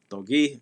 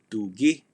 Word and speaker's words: togi: Togi means correct. That word aha also has a sense of agreement. So togi, sometimes pronounced tugi, tugi, means correct.